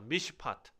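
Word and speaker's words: מִשְׁפָּט: 미시파트. 네, 미시파트.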